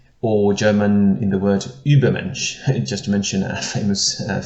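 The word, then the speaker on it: Übermensch: german in the word ubermensch just to mention a famous philosophical term in german is the u with an umlaut so now in english we don't have this so how can i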